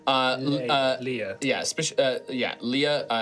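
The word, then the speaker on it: Lyia: some deeper law uh uh yeah uh yeah Leah L Y I A Leah. Of course that's how you spell it.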